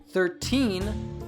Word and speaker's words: thirteen: 40 50 etc but we say the teens with a true T sound so if you say it like this it will make it easy for people to know what you are saying thirteen thirty fourteen forty fifteen fifty sixteen sixty on oh yeah